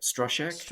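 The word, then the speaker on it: Stroszek: um I love um strosek how do you say that right stek strosek because that's how they pronounce that's how they pronounce it in the film but yeah I mean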